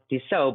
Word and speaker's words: Dussault: So Dussault, but it's spelled like Dussault, that kind of strange way, French-Canadian.